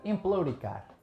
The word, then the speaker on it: empelouricar: Emplouricar. Emplou ou empleu? Não percebi. Emplou. Emplouricar. Estás aí Emplouricar. emplouricado. É Emplou. emplou.